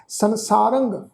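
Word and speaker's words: ਸੰਸਾਰੰ: संसारंग रारे उत्ते टिप्पी की मात्रा का नासक उच्चारण होएगा जी।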